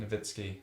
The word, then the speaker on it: Nowitzki: extra n no but it should be a v sound because it's yeah yeah I heard you wrong Nowitzki no I said it